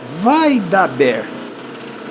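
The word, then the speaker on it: וַיְדַבֵּר: Isso aqui não é o dagesh lene, isso aqui é o dagesh forte. É o dagesh forte, tá vendo? Vai daber. Isso aqui é para duplicar a letra.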